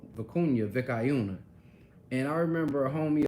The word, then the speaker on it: vicuña: See, I've learned how to say it right. And he was like, you're gonna go get some what? And I was like, man, I'm gonna go get some vicayuna, man.